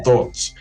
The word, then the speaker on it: Thorts: I was like, Thorts? It's like, no, Thoughts. It's like you're saying thoughts. It's like, oh, okay, thoughts. That's the only thing I could probably like. Well, it doesn't help that he doesn't spell it like thoughts, and he spells the thort.